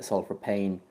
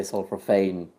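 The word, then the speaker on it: sulforaphane: is I I find this word is pronounced differently in different countries Le's pronounced it one one way uh a friend of mine or M friend of ours pronounces it sulr pan I say sulr Fane it's it's all the same thing like it is no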